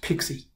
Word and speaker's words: PKCE: for code exchange and it's usually pronounced pixie it's a super set